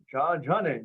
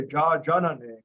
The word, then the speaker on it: Jajane: Jajane. You got your long A there. Jajane. Sometimes you'll hear people say Jajanane or Jajane.